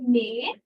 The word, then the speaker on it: mais: মেয়ে নর্মালি মেয়ে, মেয়ে উচ্চারণ করে না, মেয়ে, মে মাস এরকম উচ্চারণ।